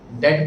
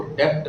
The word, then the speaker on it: debt: इस वर्ड के अंदर जो बी अल्फाबेट है वो साइलेंट है। डेट पढ़ते हैं इसको, डेप्ट नहीं पढ़ते।